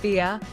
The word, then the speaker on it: B: At Michael T and Tony's house, Christine listed off who was present: Isabel, Aspen, Mitch, Tony's family, Gwendolyn, and Gwendolyn's girlfriend B, pronounced Bia, and she excitedly added, Gwendolyn and B together are adorable.